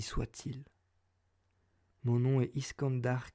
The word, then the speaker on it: Iskandar: cette histoire ainsi soit il mon nom est iskandar qu'aion nous prospérons dans le bas gothique des plaines de l'oral sur terra iskandar se prononcerait c'est quand dur et qu'aion ce prix serait kane l'état au